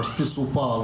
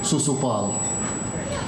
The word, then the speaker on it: Shishupal: She was scheduled to marry Shishupal or Sisupal or Susupal. There are many ways to pronounce that one. We say Susupal.